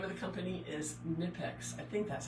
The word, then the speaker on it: Knipex: The name of the company is Knipex. I think that's how you pronounce it.